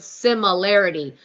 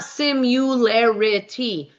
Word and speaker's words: similarity: I'm telling you, so many people don't know how to say the word similarity. It's not simularity. Drives me nuts. Similarity, not simularity.